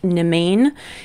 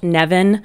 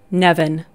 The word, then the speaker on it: Nemain: or English speaking audience, this might look like Nemain. And I am, you know, probably the farthest person from the language police or the pronunciation police, but I'm pretty sure that that is pronounced Nevin.